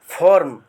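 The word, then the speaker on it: formed: खून का प्रत्येक कतरा फॉर्म फॉर्म यहां ई डी आपका जो है एफ ओ आर एम ई डी ई को साइलेंट कर दिया गया है आपका एपॉस्टोफीस ऐसे बुक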